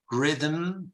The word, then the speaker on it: rhythm: then you have also The Silent Age Rhythm Rhythm rhythmo and rhyme playwright all these have Silent Age so Rhythm right right